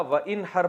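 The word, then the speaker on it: وانحر: हैं अरबी में नहर तो वन असल में था वन हर पढ़ा जाता है मिलाकर वन हर तो अलिफ साइलेंट हो जाता है वन हर फसली आप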